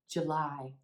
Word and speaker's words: July: on vacation in June July July here we have a two syllable word with emphasis on the second syllable and the AI as